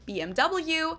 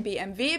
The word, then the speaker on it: BMW: English and in German in English people say BMW in German we say BMV because W is pronounced V in German and it stands for